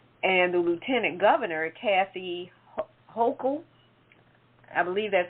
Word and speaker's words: Hochul: And the Lieutenant Governor, Kathy Hochul, I believe that's how she pronounces it, Kathy Hochul is the next in line, and she will end up being the first female governor of New York.